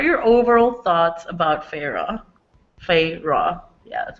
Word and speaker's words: Feyre: Feyre.